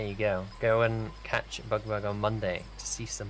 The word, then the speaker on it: BugBugh: With a H, which I learnt today is silent. Silent. It's silent. It's not BugBugh. Come on, guys. BugBugh.